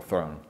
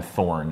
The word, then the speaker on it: Throne: darkness grand master Gabriel throne grand master Gabriel throw you got it almost almost right it's a little weird it's a long I always want to call him thorn instead thrown because it's just some